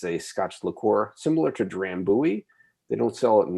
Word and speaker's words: Drambuie: Did you just say Drambuie? Drambuie, because we're Canadian. That's how we said it. Okay. Drambuie. I always pronounce it Drambuie. That's, if you want to be fancy.